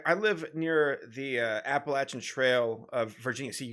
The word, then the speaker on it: Appalachian: guy he was like just remember it's not appalachian it's appalachian like almost throwing an apple at you so appalachian is how you say it i'm like oh cool